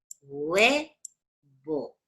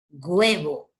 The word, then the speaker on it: huevo: suena huevo, sonaría así, huevo. No suena como G, hay un montón de chicos que pronuncian huevo así, huevo. No, no suena así, mi amor.